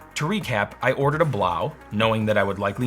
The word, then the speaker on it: Blaux: in my last episode I said below and apparently it's actually pronounced blow Google translate you lied